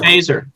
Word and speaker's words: Feser: He pronounces it Feser.